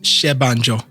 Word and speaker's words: Senbanjo: all out how do you pronounce it it's pronounced shanjo shanjo shanjo shanjo yeah you got it you